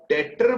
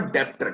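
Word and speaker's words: debtor: ठीक है, एक चीज मैं यहाँ पे सिखाता हूँ बच्चे, ये जो मैंने डेटर बोला है, ये बी को साइलेंट कर लीजिए, डेटर, बी साइलेंट है, डेटर नॉट डेप्टर।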